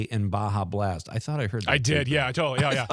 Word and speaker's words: Baja Blast: I'm only saying I'm only pronouncing the J now Baja Blast.